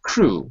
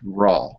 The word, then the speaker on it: raw: raw raw raw food not crew but raw okay so that's our